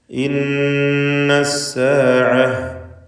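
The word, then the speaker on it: إن الساعة: ഇന്നസ്സാഅഹ്, ഇവിടെ ഇന്ന നൂൻ മുഷദ്ദദയെ മണിച്ചുകൊണ്ട് ഉച്ചരിക്കേണ്ടതാണ്. 2 ഹറക്കത്തിൻ്റെ അളവിൽ ഗുന്നത്ത് കൊടുക്കണം.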